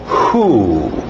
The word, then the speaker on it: who: Escrito WH, mas o som é de só o H. Who.